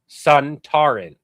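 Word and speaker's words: Sontaran: Suntaran.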